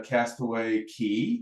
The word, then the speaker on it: Castaway Cay: Line owns it's a Castaway Key Castaway okay I'll probably say k it's they spell it c-a-y and it always throws me off but it's key so your dork tip